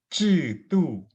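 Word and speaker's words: 制度: Nah, itu bacanya bukan i. Kalau i kan kayak 集市 nomor 15, 集市 benar-benar murni i. Kalau ini 制度之间.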